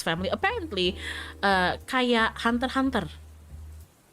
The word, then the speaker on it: Hunter x Hunter: Apparently, kayak Hunter x Hunter. It's like Hunter, you know. It's spelled Hunter x Hunter, but you don't say the X apparently.